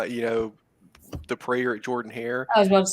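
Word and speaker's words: Jordan-Hare: one that one doesn't when you say it properly it doesn't sound as good as when you bring in that southern accent make it like prayer at your prayer at Jordan Hayer yeah exactly he said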